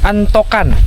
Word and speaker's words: Antokan: Tepatnya kita berada di kampung atau afdeling Antokan. Antokan apa Antoan ya? Tulisannya itu A N T O K A N. Kalau sesuai ejaannya itu antokan ya. karena tapi ada beberapa orang menyebutnya Antoan.